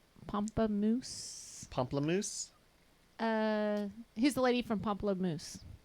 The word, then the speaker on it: Pomplamoose: I'm adding extra syllables in there. But how she was with one of the Pamplemousse. Pomplamoose.